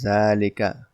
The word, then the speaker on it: ذلك: एंड थ इ mask जालिका is pronounced S जालिका देखिए प्रोनंसिएशन भी बहुत जरूरी है जालिका को अलिफ के साथ जा पढ़ा जाता है यानी डबल इसको ए कह सकते हैं जा जालिका ठीक है लेकिन इसको लिखा जाता